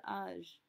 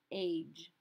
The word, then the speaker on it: âge: Note that we are not pronouncing âge as age. It's very tempting because it's spelled almost the same except for that accent over the top. But remember, we have to say everything in a French accent.